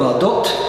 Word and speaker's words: Bardot: the Brigitte Bardot phenomenon because you don't pronounce the T at the end of her name.